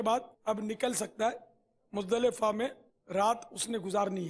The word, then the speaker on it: مزدلفہ: اس کا تلفظ عرفات نہیں ہے، عرفات، عین اور را پر دونوں پر زبر ہے، عرفات، اور مزدلفہ نہیں ہے، مزدلفہ، لام کے نیچے زیر ہے۔ میدان عرفات سے مزدلفہ